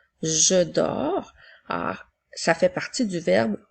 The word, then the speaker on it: dors: continue maintenant avec je dors je s'écrit ensuite nous avons deux attention la lettre S est une lettre muette je dors ça fait partie du